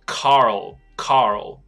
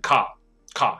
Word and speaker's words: Carl: 我还有另外一个以前的香港高中学生，高中同学不是学生，像有一个朋友叫做这个卡尔、啊、他就是没有办法把他名字念出来，他应该念作 Carl Carl。像以前有一个短跑健将叫 Carl Lewis Carl，那个 L 的英文的香港同学我都还记得，他叫 Michael，他就一直念成 Car Car。